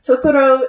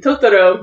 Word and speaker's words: Totoro: And Totoro is a mispronunciation of Tororu, which is troll, as they would say it in Japanese.